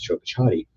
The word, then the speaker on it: Chocachati: Speaking with the Miccosukee, it is Chocachati.